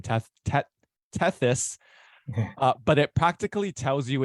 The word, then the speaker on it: Tethys: I can't, how do you pronounce it? Tethys. Tethys, I think, yeah.